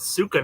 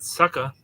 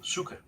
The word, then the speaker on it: Suka: I thought it was Suka, not Sucka. Sucker. S-U-K. I always assumed it was a C or something in there. No, Suka. That's how you spell it. Suka.